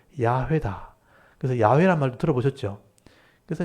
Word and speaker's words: 야훼: 그래서 여호와라고 우리가 이름 불렀지만 실제 학자들이 연구해 봤을 때 이 하나님의 이름은 야훼다.